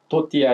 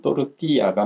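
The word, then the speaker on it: tortilla: 옥수수로 만든 전병이 또르띠아, 그래서 국내에서 판매할 때는 또띠아 이렇게 얘기하는데 전형적인 스페인어 발음은 또르띠아가 맞습니다.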